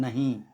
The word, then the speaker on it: नहीं: जैसे हमने नहीं लिखा तो नहीं मैं ही के ऊपर चंद्रबिंदु नहीं लगाएंगे बिंद लगाएंगे और उसको उच्चारण वही होगा जो चंद्रबिंदु का होता है नहीं नहीं इसी प्रकार से छींक